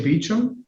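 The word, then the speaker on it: Bauch: be clear is it is b a u c h you say beum yeah well I apologize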